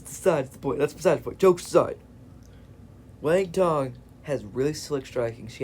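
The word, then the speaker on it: Wang Cong: But next fight of the night, Tracy Cortez versus Wang Tong.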